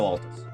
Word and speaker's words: Altus: Shadow Atlas. Atlas Altus. Shadow Altus. Which is apparently the way you're supposed to pronounce that shit.